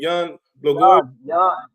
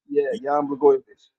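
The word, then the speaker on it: Jan Błachowicz: Jan Blachowicz. Jan Blachowicz.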